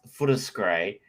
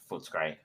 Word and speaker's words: Footscray: Gazzo is a reason why Footscray is properly pronounced Footscray, not Footscray.